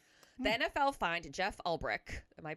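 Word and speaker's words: Ulbrich: The NFL fined Jeff Albrich, am I pronouncing that right?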